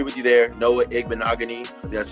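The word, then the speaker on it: Igbinoghene: have to disagree with you there know what eggman agony that's how you say his name yeah from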